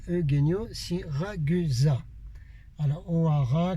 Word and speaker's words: Hoara: Alors O'Hara, comme j'ai dit dans la vidéo en anglais, ça s'écrit H-O-A-R-A. Ça n'a rien à voir avec l'Irlande, d'accord, ok.